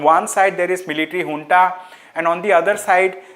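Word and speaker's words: junta: right the Myanmar military which is known as hun okay it is written as jun j n ta it we pronounce it as hun so so what hun has done it has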